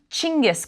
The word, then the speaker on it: Genghis: leader or Universal ruler eventually that name became Genghis Khan with the more familiar spelling and in the west it was eventually pronounced Genghis now he was poised